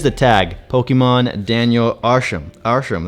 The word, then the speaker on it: Arsham: Arsham, that's how you say it, Arsham.